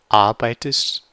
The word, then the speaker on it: arbeitest: So you can, usually the trilling won't happen in this because again this is at the end of the syllable, and then you have the ei, so it's I, arbeitest, and this is pretty similar to in English. All the letters are how you would expect them to be in English as well.